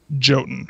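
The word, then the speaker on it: Jötunn: So, for those of you who are too uneducated to know the real pronunciation of this game, it is Jotun. For me, it is now Jotun.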